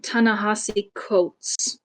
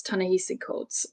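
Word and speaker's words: Ta-Nehisi Coates: author's name is um tanasi coats and um I had to look this up because I would have pronounced it as tanes cootes um I would have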